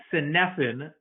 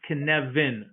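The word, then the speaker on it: Cynefin: a framework called the kinevin framework okay and i know it's not phonetically how it's spelled so it's phonetically it's synephen but the term is welsh in in the welsh language it's pronounced connevin and the person who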